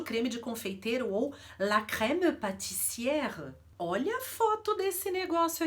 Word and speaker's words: crème pâtissière: E o acento grave, ele abre a pronúncia do E. Então eu não vou falar crème pâtissière, até difícil de pronunciar. Com o acentozinho eu vou abrir o E, por isso que a pronúncia é crème pâtissière.